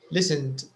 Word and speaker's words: listened: sat sat yes media listened it's a d listened listened listen no with it's with a d listen listened not a